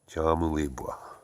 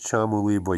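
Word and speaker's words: Kyamulibwa: box and put in Chamulibwa, which is spelled K-A or K-Y-A, but pronounced like a C-H. So there's Chamulibwa, Uganda, and we will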